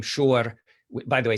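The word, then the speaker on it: Schor: This is a page from the book of students attending Freiburg University, and you can say his name, Shor, by the way, spelled S-C-H-O-R, which is, of course, the German spelling.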